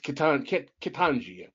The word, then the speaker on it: Ketanji: I hope I'm pronouncing her name wrong. It's Ketanji.